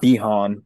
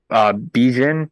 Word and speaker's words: Bijan: I think it's not Bijan, but Bijan.